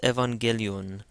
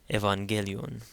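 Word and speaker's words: ⲉⲩⲁⲅⲅⲉⲗⲓⲟⲛ: Again the first gamma is pronounced like an n. The second one is pronounced like a hard G because an A comes after it. So this is Evangelion.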